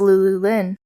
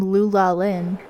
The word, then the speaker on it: Lulu Lynn: In third, and perhaps the most shocking result of all for me, was Lulu Lynn. That's right. The announcer pronounced her name Lula Lynn.